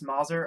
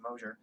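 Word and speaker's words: Mozzer: I've linked to it a billion times on Twitter uh I am I'm Mauser on Twitter which is not how you say my last name my last name is Mosher uh but it's m-o-z-z-e-r Steve is chaos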